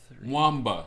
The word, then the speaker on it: Nwamba: Nwamba. That's how you pronounce his name, because I think he is Nigerian, which I am too.